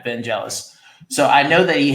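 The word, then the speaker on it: Vangelis: butchering the pronunciation here I think it's pronounced van velis or or vanel vanel thank you yeah vanelis so I know that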